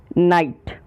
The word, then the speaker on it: night: नाइट, talk, walk, psychology, नाइट। अब जिसमें पहला शब्द है नाइट, NIGHT, पर हम उच्चारण करते समय नाइट के बीच में आने वाले GH का उच्चारण नहीं करते।